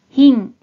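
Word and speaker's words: 貧: 환자가 됩니다 자연 자 뜻으로는 마즈시 음으로는 힝 힝 또는 예외 발음으로 빙빙이라고도 발음해줘요 그럼 대표적인 음독 오일을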